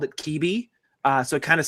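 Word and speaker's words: Kebbe: We live on a street that's spelled K E BBE. Technically, it's pronounced Keb or Kebie. Uh, but nobody ever says that. Everyone always called it KBI.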